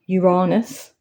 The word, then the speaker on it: Uranus: know where Pluto was where Uranus is sorry Uranus apparently that's how it's pronounced nowadays for the grown-ups in